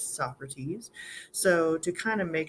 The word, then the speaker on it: Socrates: So his name is not Socrates, it's Socrates.